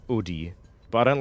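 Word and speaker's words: Oodie: Um, which for those who don't know, it's a well, it's it's pronounced Udi, but I don't like saying Udy cuz it sounds dumb to me. I like saying udie, which isn't that much better, but basically it's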